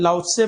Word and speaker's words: लाओत्से: लाओत्से पढ़ते हैं वैसे तो, लिखते ये है स्पेलिंग।